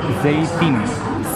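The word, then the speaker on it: זית: Olivas se dice zeytin.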